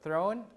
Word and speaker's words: throne: pronounce the th right when we pronounce the word throne we stick the tongue out the Theta sound Anthem also author also